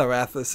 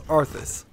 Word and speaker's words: Arthas: Or, it's not Arathis, it's Arthas. I'm mispronouncing his name.